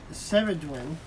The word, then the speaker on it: Ceridwen: I think this Welsh goddess is pronounced Ceridwen.